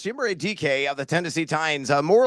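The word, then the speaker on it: Chimere Dike: No, I had to look up the pronunciation a couple of weeks ago as well. But it's Chimere DK of the Tennessee Titans, more or less the long bomb specialist with Calvin Ridley out of action.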